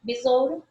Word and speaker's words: besouro: Porque eu pronuncio o O e quase esqueço do U.